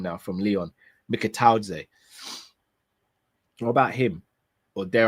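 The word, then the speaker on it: Mikautadze: Again, what about Mikataudze? For anyone who watched the show earlier, you know I know how to pronounce his name now, from Lyon. Mikataudze.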